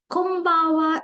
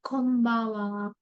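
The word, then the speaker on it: こんばんは: as becomes M here kba slightly nasal pronunciation is used in Japanese language kba sayonara is goodby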